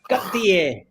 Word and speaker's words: Cartier: how do we say other names like uh Cartier Cartier actually the proper pronunciation is got the air and what about uh Vaseline and Constantine uh